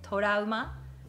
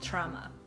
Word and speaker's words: trauma: good oh good so the english pronunciation of torah is trauma trauma trauma all right let's